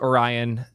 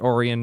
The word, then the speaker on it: Orion: I don't care that it's pronounced Orion. I really don't give a I'm sorry. Sorry viewer. People in my chat are upset that I'm pronouncing it Oran, not Orion.